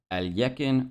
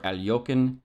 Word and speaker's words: Alekhine: First thing I learned was that I've been mispronouncing it this entire time. So it should be closer to Alekhine or Alekhine.